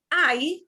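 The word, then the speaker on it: hay: this verb i which does not mean hey and is not pronounced like hey i i means there is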